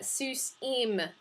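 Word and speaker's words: סוסים: a final man uh sus eem is what we get the ending hirokyo mem sounds like that's its pronunciation so we add eem to the end of seuss sonic we translate that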